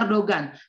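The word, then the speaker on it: Erdoğan: saja segampang itu jadi Erdogan Gimana sih cara membaca Erdogan Erdogan itu kan g-nya ada tanduknya ya kalau bahasa Turki Erdogan itu ingat gaya bertanduk itu nggak dibaca jadi langsung aja r doang segampang itu ya guys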